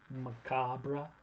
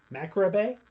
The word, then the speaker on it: macabre: how you say it how do you say it macrobay I'm a cob I don't think you put the r in there okay but I do